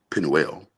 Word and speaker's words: Penuel: I I've always read it Penuel, Penuel, Mm-hmm. right? But some people will call it Peniel, right? Or Mm-hmm. Peniel. Some people pronounce it that way.